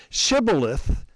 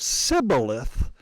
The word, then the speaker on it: Shibboleth: The dialect between saying Shibboleth instead of Sibboleth led you to know whose side you were on.